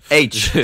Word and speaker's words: H: Le perso d'H, dans le livre, t'as un reveal à J'entends Daesh, moi, excuse-moi. Hein. H, c'est H que ça se prononce. Ça se prononce H comme la lettre H.